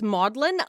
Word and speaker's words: Magdalen: going to do again I'm afraid in Oxford Magdalene is pronounced modeling that's Maudlin I've always wondered because when you look up